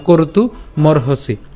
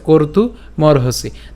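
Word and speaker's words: কর্তুমর্হসি: উচ্চারণ করব অর্থাৎ সরি ক এর পরে মানে করতু উচ্চারণ হবে এবং একই রকমভাবে এখানেও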